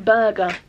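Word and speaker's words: Burga: ey pad love it it's from Burger spelled with an a b u r g a burger um then I opened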